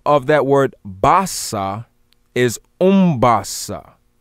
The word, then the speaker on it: umbasa: second another form of that word basa is umbassa spelled u-m-b-a-s-a umbasa now this word ombasa again means to